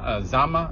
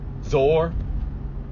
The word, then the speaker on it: Zoar: cities outside of Sodom: Gomorrah, Adma, Zeboim, and Zama. Or I don't want to pronounce it wrong. Zoar.